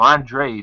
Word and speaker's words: Andrade: But I don't think Andrade is going to let that. I'm saying it right, and then I'm confusing myself. Andre, that's how it's pronounced.